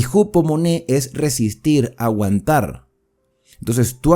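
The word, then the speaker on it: ὑπομονή: sería perseverancia porque la paciencia en griego se pronuncia moné y jupo moné es resistir aguantar entonces tú aguantas tú resistes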